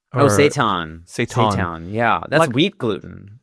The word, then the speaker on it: seitan: Is it seitan? Seitan.